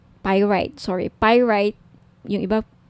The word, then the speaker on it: pyrite: now if gusto niyo ng bracelet ito yung pirate pyrite Sorry pyrite iyung iba pronunciation pirate pyrite Okay 1,980 each may may